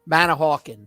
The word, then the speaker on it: Manahawkin: Yeah, Manahawkin.